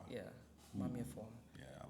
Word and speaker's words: Maameefua: It's almost spelled out phonetically, the way it sounds phonetically. It's like Maameefua.